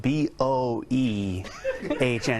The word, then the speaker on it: Boehner: It does, but first of all, I think it's suspicious that his name is spelled B-O-E-H-N-E-R and it's pronounced Boehner.